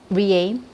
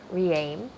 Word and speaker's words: REAIM: It sort of gives you an impression that you're re-aiming for the right path forward for the humanity.